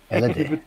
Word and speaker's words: LED: LED. Die Betonung auf dem... Ja. Auf dem so. Ersten Buchstaben, das ist so typisch.